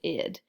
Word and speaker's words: id: ego and your super ego this is not id is pronounced id your id your ego and your